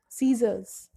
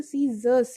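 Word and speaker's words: scissors: देखिए वर्ड आया सीजर्स, हम बोलते हैं कैंची, हम नॉर्मली अगर लेमन की लैंग्वेज में बोलें तो हम सीजर्स नहीं बोलते, हम सीजर बोलते हैं, बट एक्चुअल प्रोनाउंसिएशन की बात की जाए तो वो सीजर्स है।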